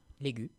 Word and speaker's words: Légu: C'est ce qu'elle va faire après la rencontre d'une De certaine ce fameux robot humanoïde, Légu.